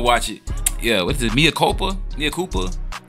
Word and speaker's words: Mea Culpa: it yeah what it mopa Mia Koopa how is that how you pronounce it yeah so we G